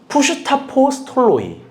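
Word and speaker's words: ψευδαπόστολοι: 가짜 사도들의 그래서 합성어입니다. 뭐냐면요. 푸슈타포스톨로이. 무슨 말이냐면요. 푸슈다는요. 연기자들이라는 뜻이고요. 아포스톨로스가 사도들이라는 건데 합쳐서 하나 묵음이 됩니다. 푸슈타스포톨로이.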